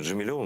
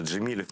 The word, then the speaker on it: Джемилев: до Тего ставлю спокойно Ты знаешь как Мустафа джемилев его всё время джемилёв называют он никогда не поправляет Но